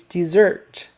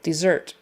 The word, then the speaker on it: dessert: Desert versus dessert. Similar sounds, but the accent is on the second syllable, dessert. It's also spelled with an extra S.